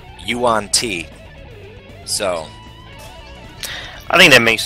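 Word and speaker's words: yuan-ti: I thought it was Yantai, and then I was listening to an audio version of a Forgotten Realms book, and they pronounced it Yuan T.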